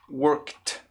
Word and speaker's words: worked: palavra aqui ó worked a pronúncia dela é com som de t tá bom worked worked worked tá porque